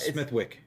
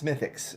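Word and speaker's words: Smithwick's: Smithwick. No, it's Smithfix. It's how it's pronounced. It's spelled Smithwicks, but it's.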